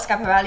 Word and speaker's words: Schiaparelli: Please type 1 if you have heard of Schiaparelli, and 0 if you haven’t It’s ok if you have never heard of her.